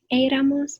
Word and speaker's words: éramos: So we would use the form of ser, one of our irregulars, éramos. And in the nosotros form here, so you want éramos, the accent on the E.